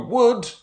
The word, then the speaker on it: wood: But just make sure you're pronouncing the W properly here, not G, W. So wood, where does wood come from?